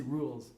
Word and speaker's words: Ruhl: leader an actress film television on stage kelsey rule did i say that right yes okay kelsey rule kelsey rules yep that's right yeah i'm sure you got